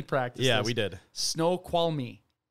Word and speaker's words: Snoqualmie: Snoqualmie. It's Snoqualmie National Forest. It's spelled Snoqualmie.